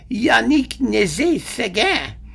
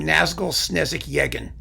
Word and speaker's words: Yannick Nézet-Séguin: He does have a radio show on WQXR, and he says it's Yannick Nézet-Séguin. I don't call him that. I call him Nazgul Snezik Yegin.